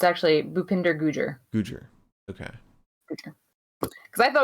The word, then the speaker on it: Gujjar: um it's actually bupinder gujjar gujar okay because i thought it was gujarat as well but um then i realized that it kind of rhymes with his first name okay our new elbow